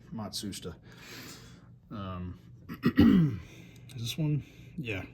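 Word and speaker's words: Matsushita: matsa rotary compressor and yes that is the correct way to pronounce it matsoua um is this one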